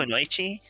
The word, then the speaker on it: Kunoichi: I mean, they're called Kunoichi, right? But no. No, I agree. You're probably taking one. You don't have the points for 2. Is it not Kunoichi?